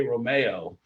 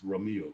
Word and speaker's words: Romeu: Oh, because I want to say Romeo, but I know Romeo. It's Romeu.